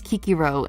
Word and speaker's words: Cicero: Do not refer to ancient names by their correct pronunciation, please. Or Julius Caesar becomes Julius Caesar. True to Caesar. And Cicero becomes Kikiro and shit.